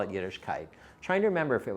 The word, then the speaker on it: Yiddishkayt: It's got to be K-A-Y-T. And I said, nobody's going to understand how to pronounce that properly. So we'll put the kite in so they'll get it. It'll be Yiddishkayt.